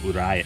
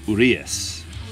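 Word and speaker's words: Urías: help me out, but the way they pronounce it is Urias. The I throws me off because I want to go Uriah. I want to go Urias, but they pronounce it Urias.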